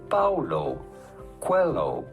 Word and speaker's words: Paulo Coelho: How do you go about pronouncing his name? Paulo Coelho.